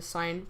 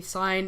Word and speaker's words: sine: H here let's start with the serving the sign first cuz the sign is typically um when they're like I like